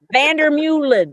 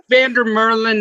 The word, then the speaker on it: Vander Meulen: Vander Meulen. I don't know. Vander Meulen is how it's pronounced in Dutch, but we use Vander Meulen.